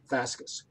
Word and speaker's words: fasces: Okay, yeah, that would be the Roman the Roman Latin pronunciation of it, fascus.